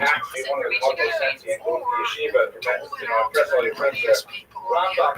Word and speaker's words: Rambam: Rambam is pronounced with the emphasis on the first syllable, Rambam, and Ramban is pronounced with the emphasis on the second syllable.